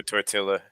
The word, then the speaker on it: tortilla: double L yeah, is just a Y sound. like So like llaves. llaves, right? Or tortilla, or I mean tortilla.